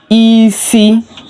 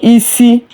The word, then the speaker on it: isi: I is pronounced like E, as in C, S-E-E, C. Ịma-atụ, isi, head, while E is pronounced deep and shorter from the throat.